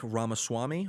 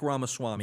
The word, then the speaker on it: Ramaswamy: Now, can you pronounce his last name? I'll wing it. Vivek Ramaswamy. I think that's like Gesundheit. Say it again. Vivek Ramaswamy.